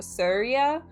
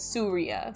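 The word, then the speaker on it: Suriya: I asked Sri how to pronounce his name because I was saying Surya, but he told me it was Surya, so I really hope that's right.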